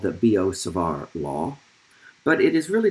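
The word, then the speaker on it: Biot–Savart: named after them and their last names are b-i-o-t and s-a-v-a-r-t and as we discussed these this result in the united states we pronounce those names b.o and savar so it's often called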